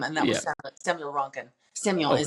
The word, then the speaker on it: Samuel: Samuel is how you say it properly.